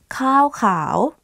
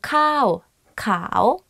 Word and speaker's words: ข้าวขาว: ข้ า ว ข า ว White rice. One is like higher than another. So ข้ า ว ข า ว means white rice.